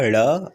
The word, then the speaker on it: ड़: ड़ और ड़, इसमें क्या होगा, जीभ को थोड़ा सा फोल्ड करके हम इसका उच्चारण करेंगे, ड़ ड़।